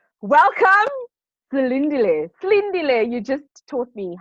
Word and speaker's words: Silindile: as I said to you, I'm used to people pronouncing it Silindile, but it's actually Silindile, but I'm okay.